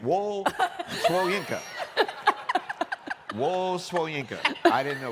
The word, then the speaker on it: Wole Soyinka: It's Wole Soyinka, by the way.